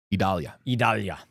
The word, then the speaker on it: Idalia: Is the correct pronunciation of that, by the way? Idalia.